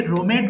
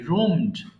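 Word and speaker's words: roamed: বেড়ানো রোম রোমড রোমড এটা অনেকে রোমেট বলে ফেলে ভুল করে উচ্চারণ যেন ভুল না করি রোমড এরপরে রোড মানে গর্জন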